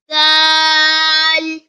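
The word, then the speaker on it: دال: finally read after me dal dal comes from tip of the tongue that is the root of the front upper teeth to pronounce dal dal this is the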